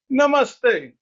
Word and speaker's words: namaste: You're supposed to say namaste.